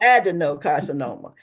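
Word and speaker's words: adenocarcinoma: carcinoma that's word I just asked how to pronounce as mouthful I ad no carcinoma there you go adino carcinoma this type begins in the cells uh that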